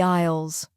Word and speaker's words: aisle: We are walking down the aisles. Isle. That is a tricky word. It starts with an A, but it sounds like isle. A I S L E.